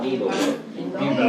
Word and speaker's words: Bimbo: When you call, they pronounce it with a, what would it be, the long I, bean. Beanbo.